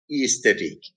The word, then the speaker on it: aesthetic: Or AE, aesthetic. AE, aesthetic. Or amoeba, OE, amoeba.